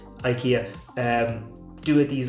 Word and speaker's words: IKEA: At Christmas time, IKEA, or IKEA I think is how it's actually pronounced, IKEA, do it these like thin, like Christmas biscuits.